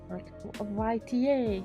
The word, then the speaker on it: AITA: what am I saying it's a Yeta a yta yeah yeah that's how you say it that's my verdict hola